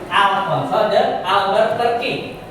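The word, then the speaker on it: Afonso de Albuquerque: Jadi bacanya gini ya. Alfonso de Albuquerque.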